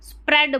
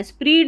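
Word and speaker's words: spread: आर को स्प्र इ ए को ए डो स्प्रेड बोलना स्पीड नहीं बोलना।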